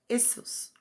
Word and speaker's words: Iesus: spelled Iesus, properly, right, properly pronounced as 3 syllables, Iesus, right, from Greek Iesus,